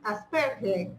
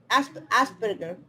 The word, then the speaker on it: Asperger: un famoso científico, Albert Einstein, él tenía síndrome de Asperger, así se pronuncia. Asperger.